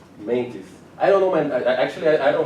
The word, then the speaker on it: Mantis: Yeah, Mantis. Did anyone else MENTIS? Mantis, like yeah. Like praying mantis. Mantis. Is it mantis or Mentis? mentis? Mantis. M-E-N or M-A-N? How do you spell it? M-A-N. M-A-N-I-S. Mantis.